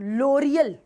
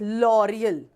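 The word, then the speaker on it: L'Oréal: लिखा हुआ है ना इट्स नॉट लोरियल एल ओ ओ का साउंड होता है ओ लोरियल नहीं है इट्स लोरियल तो ओ का साउंड ओ आया यह यह लेके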